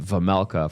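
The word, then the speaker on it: Vejmelka: Anyway, he does say Vajela, which is weird cuz uh they've been pronouncing it vulka for like four years.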